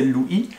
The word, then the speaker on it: Louis: Lu Yi c'était tout simple, hein, j'ai choisi parce que c'est exactement la même prononciation que mon prénom français Lu Yi.